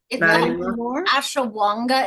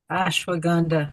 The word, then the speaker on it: ashwagandha: Ashawanga in it. Ashwagandha.